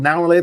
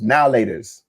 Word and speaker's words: Now and Later: I know it's spelled now and later, but no one ever pronounced it like that. It was now laters.